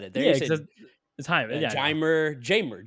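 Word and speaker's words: Jeimer: there yeah the time jamer jamer candelario it's like James James that's why I love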